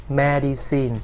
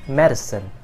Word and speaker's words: medicine: English it is not Maddie's scene okay pay attention to the vowel please it is man the